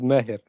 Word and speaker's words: Mahir: Is that correct pronunciation, Mahir? Yes, it is Mahir.